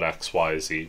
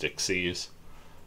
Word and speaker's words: Xyz: rank six exceeds monster i call it xyz but i've been told it's pronounced dixie's um question mark attack and